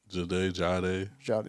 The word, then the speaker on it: Jahdae: It's spelled Jahdae. Probably Jade. Yeah. Yeah, something like that.